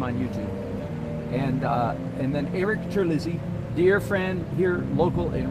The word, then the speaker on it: Terlizzi: Eric Terlizzi, it ought to be, but he pronounces it Terlizzi.